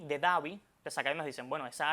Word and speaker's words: Abu Dhabi: en otras, como por ejemplo Abu Dhabi, S D H A B I Davi, te saca dicen, bueno, esa H ahí no tiene ningún sonido, vamos a eliminarla.